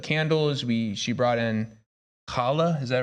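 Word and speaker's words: challah: we did Hanukkah candles we she brought in kala is that right is that how you say it the bread yeah okay I want to make sure kala yeah and um yeah I don't know I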